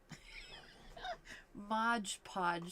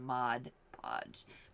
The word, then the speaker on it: Mod Podge: like oh my gosh I say it wrong Modge Podge sounds better to me than Mod Podge but anyways so it